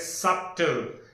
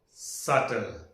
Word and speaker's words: subtle: People say or students say it as subtle. No. Its pronunciation is subtle. B is silent.